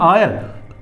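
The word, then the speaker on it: heir: तो इसमें एच जो वर्ड है वो साइलेंट है, और यहां पर इसको पढ़ते हैं आयर।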